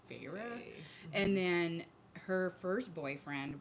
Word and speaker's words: Feyre: Maddie told me it's Feyre because I think she's listened to it on audio. It's Feyre. Okay. So I always in my head think fire, but I know it's Feyre.